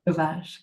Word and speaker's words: Sauvage: Do you pronounce it Sauvage? That's how it would be pronounced in Quebec. Sauvage. What? Sauvage, great.